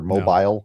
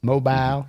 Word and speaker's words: Mobile: He did not look so great at Mobile. No. Mobile or Mobile, I don't know how to pronounce it. Mobile, Alabama. Yeah. Mobile. Mobile. You just got to do a little Southern accent.